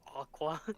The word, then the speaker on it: Akua: to remind people that it's pronounced aqua aqua like water. Well, should have been spelled with a Q.